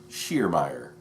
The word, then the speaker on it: Sheermeer: Sheermeer, thanks for answering my question. My last name is pronounced like the shear, like head shears. Shear me.